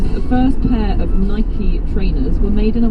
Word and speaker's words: Nike: All he did was just circle and send it back to them, and he circled -key, as in a key opening a door. Yeah. So it's Nike.